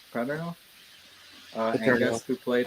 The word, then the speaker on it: Paterno: Paterno, Paterno.